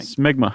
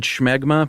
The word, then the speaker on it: smegma: Smegma. Because the last thing I want is listener mail on the pronunciation of smegma. We get all these voice files. Although I've always said schmegma, but I think...